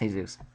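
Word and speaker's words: Jesús: on faith in Jesus it's again pronounced hay-soos it's Jesus but um I can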